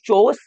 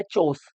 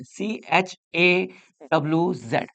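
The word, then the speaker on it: chores: I would do ऑल the house चोर्स, don't worry. ये चोरस नहीं है। क्या ये ना कोरस है ना चोरस है, ये है चोस। क्या है? चोस। इसको आपको ऐसे प्रोनाउंस करना है, CHAWZ, चोस।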